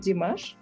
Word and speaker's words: Dimash: it d-i-m-a yeah s-h d-i-m-a-s-h-o dimash could d-mash better again yes correct ah okay i'm gonna